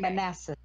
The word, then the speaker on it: Manassas: The Battle of Manassas. Manassas. Manassas. Oh, it's like molasses minus the Yep. L. Yes, Okay. Manassas.